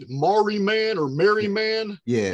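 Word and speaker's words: Marree: I don't know how you guys pronounce it, but it's Maori man or Mary man. Yeah. It's M-A-R-R-E-E. Mary.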